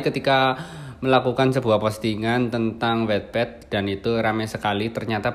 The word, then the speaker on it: Wattpad: Dan dia adalah praktisi Wattpad, ya, bacanya Wattpad.